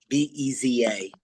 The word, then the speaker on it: Beza: Can you write down I don't remember how to spell that. Theodore Beza, B-E-Z-A.